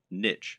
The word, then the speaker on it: niche: Or, to use the correct internet business parlance, what is your niche, or niche as some people pronounce it?